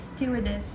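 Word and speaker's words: stewardess: भी बोलते हैं स्टूवर्डेस, इट्स स्टूवर्डेस, द आर is silent.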